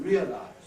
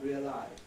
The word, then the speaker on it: realise: But the whole of the rest of the English-speaking world is agreed on saying realise, not realise, and constitute, not constitute.